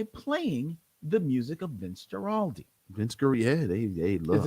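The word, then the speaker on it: Guaraldi: the music of vince giraldi vince carey yeah they love it i think it's a hard g okay vince gorald play that music and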